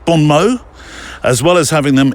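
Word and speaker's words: bon mots: You don't pronounce the S, do you? Or the T. Bon Mo. Bon Mo.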